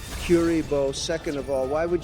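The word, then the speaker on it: Kuriboh: down with linkurbo first of all Joe it's pronounced curibo second of all why would you attack my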